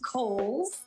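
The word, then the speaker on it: Cowles: It is pronounced Coles. George Cole was an early land owner developer out in the East County area. So Coles Mountain, like the department store.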